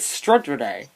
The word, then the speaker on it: Stade Rennais: Okay, it's pronounced all in one word, but it's two different words, if that makes any sense.